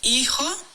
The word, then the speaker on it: hijo: Hijo has an H, but it's silent. Hijo.